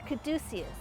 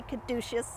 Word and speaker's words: caduceus: On this side of the headstone, if we look up at the top, we see a caduceus, or some people say caduceus, depends on how you want to pronounce it.